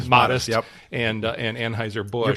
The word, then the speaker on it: Modest: Modest, yep. And Anheuser-Busch. You're pronouncing it the Bud Light way.